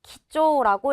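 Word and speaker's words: 貴重: 이 단어는 귀할 귀자, 키라는 단어와 무거울 중자, 초가 합쳐져서 기조라고 읽게 돼요.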